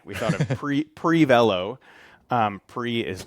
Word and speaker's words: Prevelo: pronounce it Prevelo.